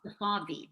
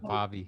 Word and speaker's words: Safavi: Actually, it spells like safari, but with a V instead. So it's Safavi, but as you can imagine, most Americans pronounce it Safavi, just like safari. Oh yeah, But Safavi.